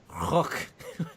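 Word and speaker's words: Rukh: And according to Filoni, Timothy Zahn said that it's pronounced Rook.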